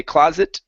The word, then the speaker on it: closet: go it space So we don't need to finish the T okay so there's no need to say closet space okay but connect the sounds together closet space closet space okay so listen to my voice here my voice goes it space closet it closet space closet space yeah okay that's what's called the stop tea so you stop halfway through the T sound okay it happens in words like it what that hat okay so listen if